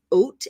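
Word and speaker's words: אות: One letter is called an oat, and it's pronounced like if you were going to have some oatmeal, right?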